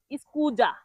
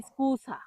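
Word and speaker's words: scusa: অনেকেই ভুল করে বলে স্কুজা। স্কুছাকে বলে স্কুজা। কিন্তু না সঠিক উচ্চারণ হবে স্কুছা।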